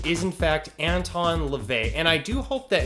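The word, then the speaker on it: Anton LaVey: the church of satan's name wrong the correct pronunciation is in fact anton levay and i do hope that in this particular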